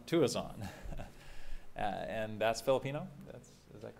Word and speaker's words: Tuazon: Michael, now I was going to pronounce it Tuazon, but I heard last night it was different. How do you? Tuazon. Tuazon.